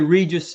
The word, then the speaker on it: Regius: Pronounce it. Regius. Yeah, I say Regius Sphera, which is, royal ball.